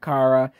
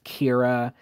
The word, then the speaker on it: Kara: Her constant snapping at Kara, saying her name wrong as Kira, and just it was so cliched.